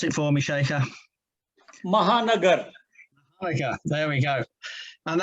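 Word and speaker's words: Shekhar Mehta: member of the rosary club of calcutta now pronounce it for me shaker mahanagar okay there we go and that is obviously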